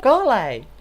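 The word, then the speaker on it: Collei: Anda que no es mona, Coley. ¿Cómo se pronuncia? A ver. Yo creo que es Coley. My name is Kale. I'm a trainee for... Coley.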